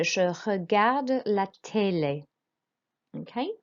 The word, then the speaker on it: regarde: Okay, so to say I watch TV, we say je regarde la télé. Okay, so regarde, roll your R. Because there's an E on the end, we do pronounce the D.